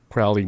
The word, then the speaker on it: Crowley: so Crowley yeah Crowley or Crowley it's actually pronounced Crowley Cy yeah he the rumor is he never